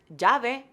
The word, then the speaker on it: llave: We, for example, have the letter doble L, which is two L's, and that is pronounced Y. So the word llave, which is key, is an example, and